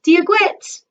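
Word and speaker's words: Dia dhuit: when i greet my irish-speaking friends i say diaguit and then to me they respond diaz miraguit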